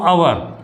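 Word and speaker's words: hour: तो जो हम इसको आवर लिखेंगे तो आवर, अब ये जो आवर है हमारा, इसमें जो पहला लेटर है वो आ रहा है, ठीक है।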